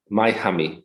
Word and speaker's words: myHummy: Yeah, myHummy. So it's from humming noise.